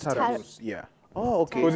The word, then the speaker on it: Tarus: It's pronounced Tarus.